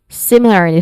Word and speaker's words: similarly: Similarly, first syllable sim is the stressed syllable here.